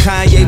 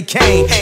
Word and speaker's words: Kanye: It's Kanye, but some of my plastics still say Kane.